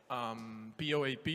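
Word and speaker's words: POAP: proof of attendance protocol POA P that we pronounced as in popemobile and Lambos jokes still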